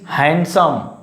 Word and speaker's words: handsome: He is handsome. Don't say. So here is D is silent.